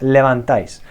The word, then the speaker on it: levantáis: Okay, os levantáis. A quick little tip. When we are using vosotros in Spanish, levantáis, my tip is to pronounce ice, okay, like hielo in Spanish. Ice, like a cube of ice, okay, what you put